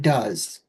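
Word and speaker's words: Duz: soap, you know, and it was called Does. It's spelled D-U-Z, you know, it does everything.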